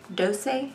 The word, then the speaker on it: Doucce: The pronunciation is D-O-H-S-E-H. Doucce, but it's a Freematic eyeshadow in the shade 67 Marisa, which is a shimmer.